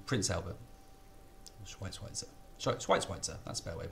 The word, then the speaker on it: Schweitzer: Schweitzer, that's a better way of pronouncing it.